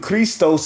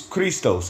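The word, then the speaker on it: Χριστός: aus cist okay cuz I believe Christos is how you say Christ in the Greek which goes back to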